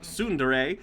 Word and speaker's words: tsundere: Tsundere, pronounced tsundere, is a Japanese term for a character development